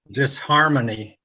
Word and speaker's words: disharmony: go well together and in that case disharmony the h is pronounced that's kind of the